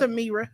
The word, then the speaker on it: Ameerah: It's Amira. Yeah, I said I slightly butchered.